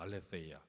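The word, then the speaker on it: ἀλήθεια: 8절에 하나님의 진실하심, 진실, 이게 헬라어로 알레세이아라는 말이에요. 알레세이아, 번데기 발음이에요. 알레세이아.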